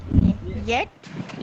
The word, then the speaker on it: jetzt: German course में हूँ इसमें जो ये जी JETZT लिखा हुआ है इसको प्रोनाउंस करना चाह रही थी इसको जरा एक बार फिर मुझे बता दीजिएगा येट येट सेट हाँ jetzt नहीं क्या हो गई